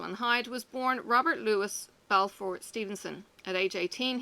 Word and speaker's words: Louis: of the greatest films of all time Robert Louis Stevenson the author of Treasure Island kidnapped and Jekyll and Hyde was born Robert Louis Belfort Stevenson at age 18 he dropped the